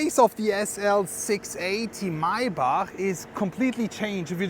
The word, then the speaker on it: Maybach: of the SL 680 Maybach is completely changed if you just compare it with the AMG model.